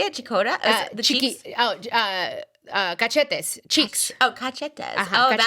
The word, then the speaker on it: cachetes: Cachetes, cheeks.